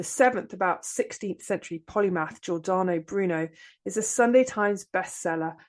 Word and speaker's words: Giordano Bruno: Yeah, Giordano Bruno.